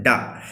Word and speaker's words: डा: फिर से आया कोमा तो अ का उच्चारण करेंगे यहाँ पर डा।